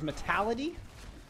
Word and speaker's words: Metality: Just to put out there a little correction, so I have been mispronouncing the main tank on the other side. I misread the way they put their pronunciation down, but it is Metality.